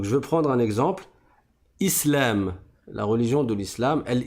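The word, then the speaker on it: إسلام: Islamun par exemple. Mais si je m'arrête dessus, je ne prononce pas la dernière voyelle et donc je vais dire islam.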